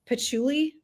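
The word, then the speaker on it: patchouli: the bottom notes it's pachuli.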